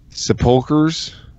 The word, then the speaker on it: sepulchre: the tombs of the prophets and garnish the sepulchres of the righteous. I always thought it was like sepulchres. Sepulchres? Whatever. I guarantee you this is not... Sepulchres.